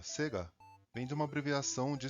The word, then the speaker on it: Sega: Nome Sega ou na pronúncia japonesa Sega vem de uma abreviação de Service Games.